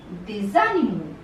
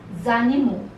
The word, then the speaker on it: des animaux: Plural form, the sound that follows in between is Z, Z. So this becomes, obviously it is written as they, avion, but together they are pronounced as des avions, des animaux, zanimo.